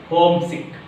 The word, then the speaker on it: homesick: Homesick. So what is the stressed one? Write vertical bar on the first syllable.